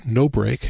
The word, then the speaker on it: nobr: And it's called NoBreak, and it's spelled N-O-B-R.